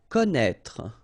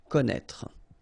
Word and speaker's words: connaître: Okay, so you get this accent circonflexe on the top of E here, but then, you don't pronounce it, okay? So don't be afraid by this accent circonflexe because you won't pronounce it.